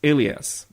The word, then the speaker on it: Elias: But let's talk about the other main character first, which is Elias, or Elias. I don't know, the show, in the show he's pronounced Elias. So I'm calling him that.